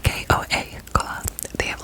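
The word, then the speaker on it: Koa: It's spelled K-O-A, Goa.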